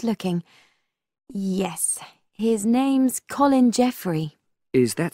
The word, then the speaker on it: Jeffrey: on I'm just looking yes his name's Colin Jeffrey is that spelled with a G actually it's j e double